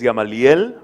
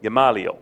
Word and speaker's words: Gamaliel: that my name is Gamaliel Gamaliel is it to pronounce gamma like gamma rays Lee like Bruce Lee and L like the letter gamma Lee L you got it Wow